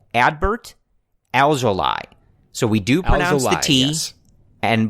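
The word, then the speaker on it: Adbert Alzolay: and the official pronunciation ad Bert alveoli so we do Pilates and but it's ly not lay in his last name so I've practiced several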